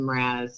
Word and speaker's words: Mraz: I can't pronounce his last name. Mraz. Oh, Jason Mraz. Mraz. Oh, I Not a good song. did say it right.